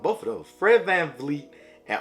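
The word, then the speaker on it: Fred VanVleet: booker de aaron fox is someone i like fredbear fleet and oj oh sh i just pronounced both of those fred van fleet and ogianna nobi are also two players that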